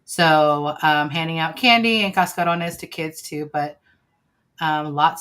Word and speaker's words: cascarones: Is it cascarones or casta with like STA? Cascarones. No, it's a C. Okay. CASCO. It's CASCA. CA, yeah. RONES. Okay. Cascarones.